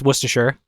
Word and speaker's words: Worcestershire: Obviously, it's Worcestershire. La tuya. Yeah, Worcestershire. Yeah, Worcestershire. No, not Shire, because Shire shosh. Because you don't say the Shire, because the Shire is